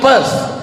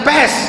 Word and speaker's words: Perth: I am going to Perth. Bukan pes. Kalau pes penyakit. Perth.